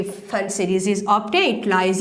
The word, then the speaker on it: Pfund: P is silent here, you can say Pfund series, right?